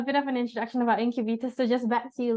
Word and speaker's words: Incubeta: have taken cautions um but ultimately it is pronounced incub um we are a digital advertising agency and